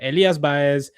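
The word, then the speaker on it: Báez: I mean so so his name is Elias Bay cuz you got to remember a little accent so that tells you how to how to pronounce it. But uh but yeah, Elas Bayz, a 21-year-old uh Argentinian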